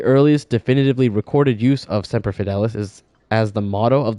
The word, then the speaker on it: Semper Fidelis: Is it Semper Fidelis or Semper Fidelis? Let me see. Search Brave. Oh, pronunciation. Here we go. Phonetically with audio. Semper Fidelis. Yeah, it is Semper Fidelis.